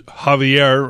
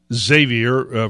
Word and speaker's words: Xavier: we got comrade Becerra who's Javier or Xavier for those of you who used the English pronunciation Xavier Becerra a flat-out Marxist